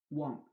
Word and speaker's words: want: When letter A is after W sound, letter A is pronounced as O, O. Want, want, watch, watch, watch, watch, what.